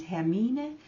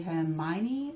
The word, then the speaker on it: Hermine: live in Norway and hermine is the Norwegian and danish pronunciation in English would maybe be Hermione or her mind and a beautiful new